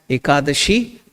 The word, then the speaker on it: ekadashi: pronouncing it is aa aa means one Dasha means 10 together akadashi aashi that is the 11th day of the both Paka you celebrate it as ekadashi by remembering God and